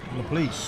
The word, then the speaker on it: Laplice: I think you pronounce that Laplice. I believe it. Yep. Laplice.